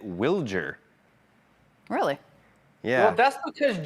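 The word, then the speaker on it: Wilyer: Um, so I met Willard on Friday for the first time and he pronounced it Wiler.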